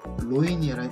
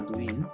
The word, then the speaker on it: 노인: 그래서 우리는 이제 발음을 할 때 락원이라고 하지 않고 되게 힘들잖아요. 낙원이라고 한다는 겁니다. 레일이 아니라 내일, 로인이 아니라 노인, 뇌성이 아니라 되게 힘들죠.